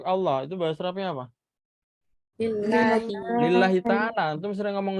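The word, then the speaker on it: لله: Nah, apakah kalau lillah nanti kayak gini?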